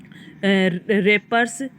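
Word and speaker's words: wrappers: है ना वो वाले रेपर्स इसमें देखो डब्लू है वो साइलेंट है तो रेपर्स बोलते हैं इसको क्या बोलते हैं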